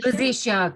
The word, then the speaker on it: rosacea: I don't know if I'm pronouncing this properly, so I'm going to spell it. Rosacea. Rosacea. Rosacea, correct.